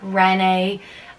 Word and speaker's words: Renee: And then I was like, Renee or Renee. And then he was like, oh god. And then I just told him like, it's Renee, like Renaissance.